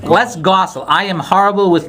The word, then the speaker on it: Les Gosule: Okay, we're in the WCRN studios with, now your last name is pronounced Les Gosule. Les Gosule.